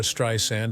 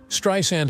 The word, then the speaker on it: Streisand: Streryand has always been vocal about how her surname should not be pronounced with a Z sound like in Strand. Instead, it should be pronounced like sand on the beach.